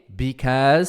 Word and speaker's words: because: Aí é because, because com som de Z.